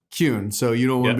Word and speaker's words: Kuehn: pronounced a thousand times is how do we pronounce your last name it's cune kun so you don't want to be called or